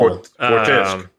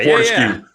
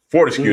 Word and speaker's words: Fortesque: Fortesque. Sir Daniel Fortesque. Fortescue. Fortescue. That's how they pronounce his name.